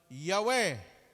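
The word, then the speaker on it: Yahweh: addition to the name of god's ito na pronounce with the vocalization Yahwe ayan na ang Diyos ni Moises ha si Moises.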